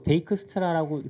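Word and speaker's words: Dijkstra: 실제로 데이크스트라라고 쓰기 시작한 지 얼마 안 됐어요. 옛날엔 다 다익스트라였어요. 근데 이제 그 발음 기호도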